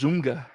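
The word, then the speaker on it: ZOMFG: she said z-o-m-f-g yeah pirate dave says that's pronounced zumga yeah she was just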